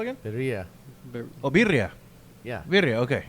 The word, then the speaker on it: birria: Birria. Oh, birria. Yeah. Birria. Okay. Yeah. I didn't roll my R's. I just didn't catch it. Well, it sounds different. Birria. You gotta roll your R's, man.